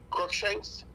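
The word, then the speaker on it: Cruickshanks: uh your your name Shanks what is it crook Shanks okay spell it for me and and I'll r u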